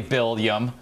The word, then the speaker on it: will.i.am: Now they're going to think that's how we pronounce our names. I know. This is an affront to Williams the world over. Exactly, Bill.i.am. Bill.i.am.